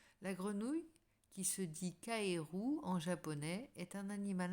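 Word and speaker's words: かえる: La grenouille, qui se dit kaeru en japonais, est un animal important au pays du soleil levant. Son nom se prononce comme le verbe rentrer.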